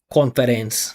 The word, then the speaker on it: conference: Mostly you go con. You say con and you say fence. Fence. Conference. Conference. Not in my class. I'll make you repeat it.